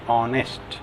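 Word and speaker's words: honest: जिन शब्दों में यच साइलेंट रहता है उनसे पहले एन का प्रयोग होता है, जैसे an hour, an ऑनेस्ट मैन, N honourable man, N hair, उत्तराधिकारी आदि।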